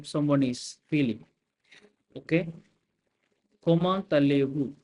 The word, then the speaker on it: Comment allez-vous: I hope now you are clear why I pronounce T and A together. Why I pronounce it like comment allez-vous and not as comment allez-vous.